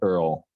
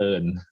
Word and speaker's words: Earl: Yeah, my Thai nickname would be Earl. Earl? Earl, yeah. I like that. And the Thai way of pronouncing it would be earn. Okay. Like nice. Earning money, earn.